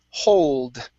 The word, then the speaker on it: hold: we have the word hold okay make sure to pronounce the d at the end if not then it's a hole in the ground okay so if you say hold it's different okay so let's try